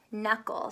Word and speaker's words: knuckle: my job says me knuckle so this silent letter is silent letter K so the word me